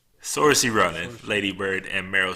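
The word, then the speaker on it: Saoirse: saying in an interview I've been wondering for so long how to pronounce that because I'm always like so sore see Sarah yeah si si si yeah sore see runnin Lady Bird and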